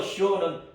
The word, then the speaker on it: 시온: 신명기 4장 48절에 보면 헤르몬산을 시온산이라 그랬는데 그것은 발음이 시온 맞아. 히브리어 시온이 맞아. 그 시온 헤르몬산은 아주 높은 산이잖아요. 그래서 시온은 높다 올라가다 그런 뜻이란 말이에요.